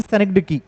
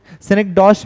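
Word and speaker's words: synecdoche: सेनेक्डॉश भी इसको अमेरिकन में कुछ लोग कहते हैं, बट सेनेक्डकी जो है करेक्ट प्रोनाउंसिएशन है अगर फोनेटिक्स में भी पूछा जाए तो।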